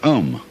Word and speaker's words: Om: That sound is used because if you spell it out a U m, it runs from the back of your throat to your lips and therefore it contains the whole range of the voice and for that reason